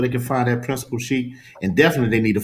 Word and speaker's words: Chic: Tell us where they can find that Principal Chic, and definitely they need to follow your Instagram to see the outfits. Yeah, my Instagram is Principal Chic, and it looks like Principal Chick, but Chic is spelled CHIC.